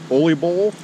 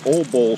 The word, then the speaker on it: Ole Bull: This week we're at Oly Bowl or Old Bowl State Park. They pronounce it two different ways.